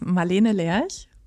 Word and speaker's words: Marlene Lerch: So it's Marlene Lerch, but you're getting much better.